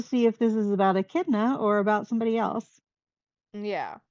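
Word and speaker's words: Echidna: woman's name so yeah it's like a chid a chna a is how a kidna it looks like a chna if you look at how it's spelled it's spelled with a e um but yeah a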